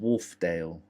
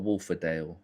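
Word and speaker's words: Wharfedale: It's pronounced Wolfdale. Oh, is it not Wolfaddale? Okay. Warfdale.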